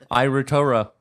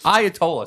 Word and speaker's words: Ayatollah: Ira Torah is the head of Ira. Now I don't even remember how to say the real L. Wait, what is his name? What is it? Ayatollah. So it's just Ayatollah is what I should have said.